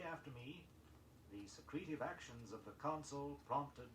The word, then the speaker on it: secretive: In the word secretive, S-E-C-R-E-T-I-V-E, notice that the accent falls on the second syllable. Say after me, the secretive actions of the consul prompted suspicion.